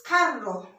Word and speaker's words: carro: And this is pronounced, when you see double R, it's like the ra sound. It's carro.